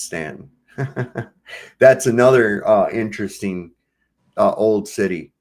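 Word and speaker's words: Staunton: was from Stanton Virginia it's spelled like Stanton and that's how we can always tell Yankees they always call it Stanton it's Stanton that's another uh interesting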